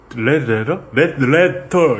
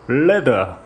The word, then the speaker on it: Leather: 금요일의 히스테리 사건 파일 그것은 알기 싫다는 에브리온 TV 다 따져봐도 결론은 아로니아진 스테픈 울프 제뉴인 레터 이거 정확한 발음이 어떻게 됩니까? 레더 여기서는 우리 성우분은 제가 알기로 남아프리카 분이실 거예요.